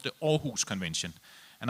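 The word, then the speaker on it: Aarhus: a convention called the or who's convention and I'm one of the few people who can pronounce it because all who's is a Danish town and I'm from Denmark but the all convention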